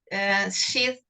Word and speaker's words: Sheth: Sorry, I couldn't pronounce it in the correct way. Sheath, okay.